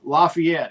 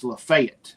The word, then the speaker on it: Lafayette: So, then we got into like pronunciations of uh cities in Tennessee, and he goes, "It's uh it's not uh uh Lafayette, it's Lefayet, Tennessee."